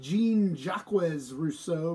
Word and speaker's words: Jean-Jacques Rousseau: Rousseau you noticed that his name should be jean-jacques Rousseau but he's French you don't have to pronounce the entire words so jean-jacques Rousseau who